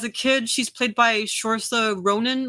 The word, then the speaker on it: Saoirse: And as a kid, she's played by Saoirse Ronan. Like I think that's how she pronounces her name.